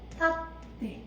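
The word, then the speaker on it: 立って: 탓대 이렇게. 자, 초음이니까 한 박 충분히 해줘야 됩니다.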